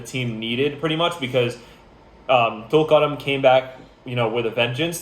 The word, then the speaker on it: Tulkarem: Khan Yunis versus Tulkarem. Tulkarem.